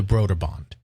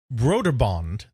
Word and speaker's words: Brøderbund: They made it sound more Scandinavian by going Brøderbund, Bund. And then they represented the OE with a null O, essentially, which is something that's used in Danish. Not Swedish, but in Danish, where you put a slash through the O and it changes the pronunciation. It's kind of similar to the umlaut in German. It kind of changes it to that OE sound, that Ü sound.